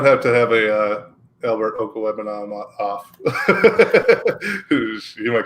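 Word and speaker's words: Okwuegbunam: Oh, it's Okuwebanam.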